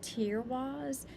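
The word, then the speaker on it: Teiwaz: you want to um this is tear wise tear wise was named after the god tear t-y-r this is spelled t-e-i-w-a-z this is when we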